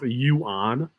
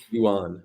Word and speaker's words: Yuan: that wait time out you pronounce Yuan Yuan like Juan Yuan okay I didn't know